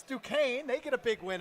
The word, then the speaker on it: Duquesne: watching that game didn't know how to pronounce Duquesne. Everybody thought it was Duquesne. And it's Duquesne.